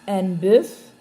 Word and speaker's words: bœuf: Alors, ici, on prononce le F. Un bœuf, un œuf. Mais le pluriel, on dit des bœufs, des œufs.